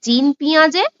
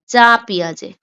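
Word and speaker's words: Jean Piaget: তোমরা অনেক জায়গায় দেখবে যে জিন পিঁয়াজে, অনেক জায়গায় দেখবে পিঁয়াজের সম্পূর্ণ নাম আছে জিন পিঁয়াজে, আবার অনেক জায়গায় উচ্চারণ আছে যা পিঁয়াজে, যা পিঁয়াজে। দুটোই হবে, ঠিক আছে?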